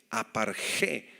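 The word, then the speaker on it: ἀπαρχή: la palabra primicias es la palabra apar G en griego con x apar G con acento en la e y se refiere a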